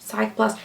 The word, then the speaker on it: Cicaplast: I'm never going to be able to pronounce this. La Roche-Posay, is it called Cicaplast or Cicaplast? Cicaplast.